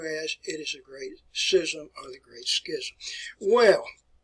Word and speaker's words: schism: Some people pronounce that as Schism, but I want you to recognize it, the Great Schism.